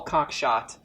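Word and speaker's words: Cockshott: new socialism by paul cox shot and greatest name greatest name ever i i was hoping it wasn't pronounced that way but it turns out it is um no so it's towards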